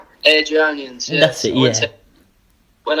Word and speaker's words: Airdrieonians: And then after this move, you actually went to, I'm not sure if I'm going to pronounce this right, Aldrians? Airdrieonians, yeah.